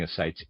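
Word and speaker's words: ascites: Readers aside, I'm pronouncing asites a s c i te. Forgive my pronunciation there.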